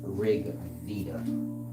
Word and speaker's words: Rigveda: probably know that's the rig Theta but it's pronounced rig Vida uh r-g-v-e-d-a that's the proper spelling roll up